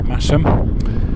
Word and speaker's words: Masham: towards rippen and massam don't be um fooled into pronouncing it masham it's massam uh and this is